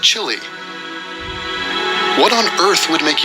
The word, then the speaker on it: Chile: It's pronounced Chile. What on earth would make you Smash the Chilean chick.